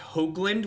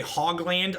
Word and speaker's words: Hoagland: My last name is correctly pronounced Hoagland with a long O sound, so Hoagland. We say Hogland on this stream a lot to poke fun.